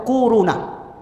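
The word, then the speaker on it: كورونا: Corona. Corona bacanya tuh kuruna.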